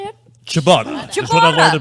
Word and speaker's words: ciabatta: Ciabatta.